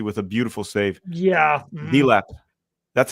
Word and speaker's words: Delap: Dilap. That's how you pronounce it.